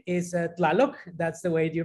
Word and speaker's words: TLaloC: So my, I guess, artistic name is TLaloC. That's the way you pronounce it, Colette.